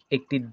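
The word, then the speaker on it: へ: সেক্ষেত্রে যে এখানে দেখতে পাচ্ছেন, অন্যদিকে যখন গন্তব্য বা একটি দিক বা ডিরেকশন বোঝানো হয়, তখন এ পার্টিকেল, যদিও এটি হে কিন্তু এটার উচ্চারণ হবে এ পার্টিকেল বসে।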